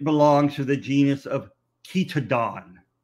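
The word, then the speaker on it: Chaetodon: to the genus of kitadon in this case ch is sounded like a k think of chemistry uh think of chameleon you would not say chameleon you would not say chemistry um the etymology for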